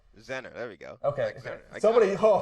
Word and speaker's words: Zenner: and I was go for itou Z Zach zerner what last name Z zenner there we go somebody ho ho somebody gave